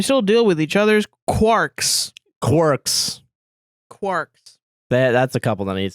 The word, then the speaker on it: quark: deal with each other's quarks quarks quarks that's a couple that needs to stop I think a quark is like an actual scientific thing oh so they said Quark instead of quk yeah q u a